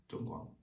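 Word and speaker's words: 中国: Zhongguang.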